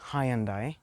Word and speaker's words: Hyundai: So people say Hyundai, others say Hyundai, but it's actually Hyundai, and this is a Santa Fe.